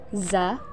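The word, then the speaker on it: ز: Huruf za dikeluarkan dengan ujung lisan kita hampir di atas gigi seri bagian bawah. Diucapkan dengan mengalir suara tanpa diiringi dengan udara. Sifat lain pada huruf za ini karakter khasnya, dia mirip dengan suara dengungan tawon.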